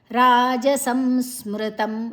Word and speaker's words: ರಾಜಸಂ ಸ್ಮೃತಂ: ನ ಐನಬಕ ಅನುಸ್ವರದ ಉಚ್ಚಾರಣೆ ರಾಜಸಂ ಸ್ಮೃತಂ ರ ದೀರ್ಘ ಅಕ್ಷರ ಸ ಐಬಕ ಅನುಸ್ವರದ ಉಚ್ಚಾರಣೆ ಮಕ ಸ ಮಜಿ ಅಕ್ಷರ ಸ್ಮೃತಂ ತನ ಹೇಳಬೇಕ ಮ ರಾಜಸಂಸ್ಮೃತಂ ಓಕೆ ಇತ್ತೆ ಯತ್ತು